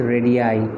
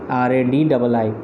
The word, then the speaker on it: radii: But in case of radius, if it is plural, in plural form we don't say radiuses, we say it as radii, RADII.